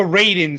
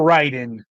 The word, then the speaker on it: Raiden: Um, or Ryden. Like I'm honestly not sure how they pronounce that. It depends where you're from, unfortunately. That's the thing that drives me insane because both are technically correct. It depends on the region.